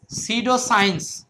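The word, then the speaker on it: pseudoscience: তারপরে দেখেন এটা হচ্ছে সিডোসাইন্স সিডোসাইন্স সিডোসাইন্স মানে হল ছন্দবি বিজ্ঞান সিডোসাইন্স সিডো সাইন্স মানে হল ছন্দবিজ্ঞান এস ইউ সিডো সাইন্স মানে ছন্দবিজ্ঞান এটার সামনে পি আছে এটার উচ্চারণ হবে না তারমানে এই যে পি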